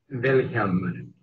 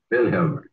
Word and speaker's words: Wilhelm: Wilhelm. The accent on the first syllable. Wilhelm.